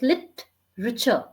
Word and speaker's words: literature: but you don't have to stretch Ray it's lit richer richer lit richer correct exactly literature literature correct